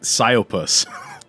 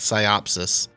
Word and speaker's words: Psyopus: We pronounced it Psyopus. That's pretty much it. Okay. Most people used to say like Psyopsis. And that was like, not Psyopsis. They're adding letters.